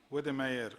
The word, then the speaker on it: Wedemeyer: delivery of education and training, won the Charles Wedemeyer Award in the United States for significant contribution to distance education. Did I pronounce it right?